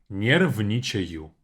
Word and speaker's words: нервничаю: Break the second word down into parts, into syllables. It will be much easier to pronounce kind of after you practice a bit. Because there's a lot of similar sounds like не, ни, нерв, all of that. So, я нервничаю.